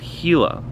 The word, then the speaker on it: Gila: think this is pronounced HeLa like the lizard the Gila monster I don't know what